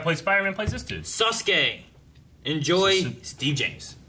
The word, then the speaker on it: Sasuke: So the U is silent. That's a pissed off Pikachu. The not happy. Yeah. What? The second U.